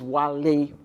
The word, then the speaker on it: Wale: Yeah, I should say my name is Wale, W-A-L-A-Y, Wale. It's not W-H-A-L-E.